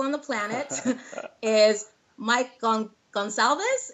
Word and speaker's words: Gonsalves: And my first guest ever, one of my favorite people on the planet, is Mike Gonsalves. Is that how you say it? That's close enough. Gonsalves. It's close enough.